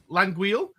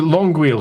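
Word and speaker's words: L'Anguille: with that um I always pronounce it long wheel so langu will do me fine if that's the way of pronouncing it yeah feel free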